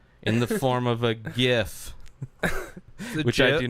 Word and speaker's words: GIF: it's actually gif that's anybody that says jiff for anything and not talking about peanut butter they're wrong it's the only thing